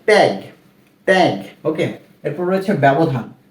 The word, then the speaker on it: ব্যবধান: এরপর রয়েছে ব্যবধান, ব জফলা ব্যা, ব্যা।